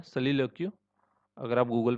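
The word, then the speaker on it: soliloquy: तो देखो, खुद से बात करने की जो कला होती है उसको बोलते हैं सोलिलोक्यू। ठीक है, सोलिलोक्यू बोलते हैं उसको। इसका प्रोनाउंसिएशन एक्चुअली सलीलोक्यू होता है, सलीलोक्यू।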